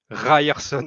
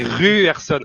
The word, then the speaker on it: Ryerson: Parce que j'en profite pour dire un truc, le Y en norvégien, il se prononce U. Donc je boue intérieurement à chaque fois que vous dites Ryerson, c'est Ruerson.